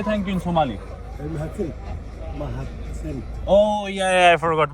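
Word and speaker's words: Mahadsanid: Mahatsen. Oh yeah, I forgot Mahatsenet.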